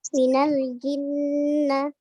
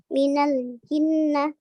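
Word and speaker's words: مِنَ الْجِنَّةِ: Jadi dibacanya itu minal jinnah ya, minal jinnah. Jadi bukan minal jinnah. Enggak ya. Ya, harus didengungkan dulu minal jinnah. Ya, bukan minal jinnah. Jangan dihentakkan juga ya. Jangan minal jinnah.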